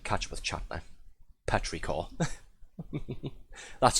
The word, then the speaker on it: petrichor: Petrichor. That's how you pronounce it.